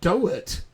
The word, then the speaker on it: Doherty: Oh, no, it is Pete Doherty. That's how you say his name.